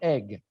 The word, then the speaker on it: Eigg: So it is pronounced the Isle of Eigg.